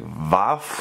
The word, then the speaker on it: Waff: So, I guess the correct pronunciation is probably supposed to be something more like Vaf Vaf sort of.